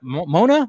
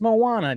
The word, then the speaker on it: Moana: the Disney stuff I couldn't say Moana right at the at first I was like Mo Mona Moana I was just like I'm saying that wrong huh and then it